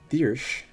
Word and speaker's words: Thyrsc: THYRSC is pronounced Thirsch.